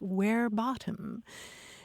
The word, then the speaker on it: verbatim: then we shouldn't be talking about quoting somebody verbatim because in Latin it's where bottom and uh we shouldn't